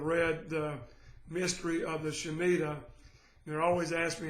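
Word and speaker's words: Shemitah: Christians that have read The Mystery of the shamida they're always ask me how to spell it it's s h e m i t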